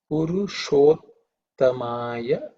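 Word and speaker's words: पुरुषोत्तमाय: This sh, as we all know, it's a cerebral sh, so the tongue should be pointing up towards the roof of the mouth when we say it, Purushottamaya.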